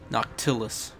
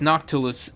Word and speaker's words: Noctilus: anytime soon nocus no how do you pronounce his name noctilus I was going to say NOC anyways noctilus and his boys are